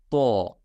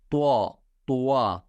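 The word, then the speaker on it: ط: They like pronounce it like to. That is incorrect. Try to make it heavy. Okay, like to. Very simple. To. Don't make it circle. Don't make your mouth circle.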